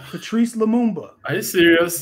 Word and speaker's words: Lumumba: I don't know how to pronounce his name. Lumumba?